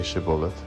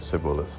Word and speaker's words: Shibboleth: If he said, No, then they said to him, Now say Shibboleth, and he said Sibboleth, for he couldn't manage to pronounce it correctly.